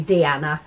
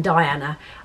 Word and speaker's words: Diana: found out afterwards that it's actually deanna um rather than diana um so i do